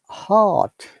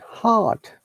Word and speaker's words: heart: Heart. Look, R is silent. Heart.